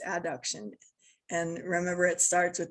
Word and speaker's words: adduction: use these words a lot, will often say adduction and abduction, just because those words sound so similar, but that's not how you pronounce it. You pronounce it adduction and abduction.